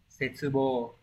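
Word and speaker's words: 切望: Từ này đọc là Setsubo.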